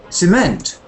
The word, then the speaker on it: cement: there's a e c cement cement yeah cement cement yeah that's a second syllable stress word cement yeah yes and